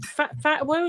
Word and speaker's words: Fatawu: Is it Fatawu? Is it Fatawu? Fatawu. Oh, yeah. Well, look, I'm from southeast London. It's spelled Fatawu, so I'll give him a defence there.